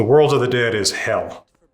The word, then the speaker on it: Hel: But hell is just called hell, right? It's it's just like English except that it is one L.